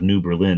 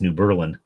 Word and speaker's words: New Berlin: changing the name entirely, they just changed the pronunciation. So instead of New Berlin, now it's New Berlin.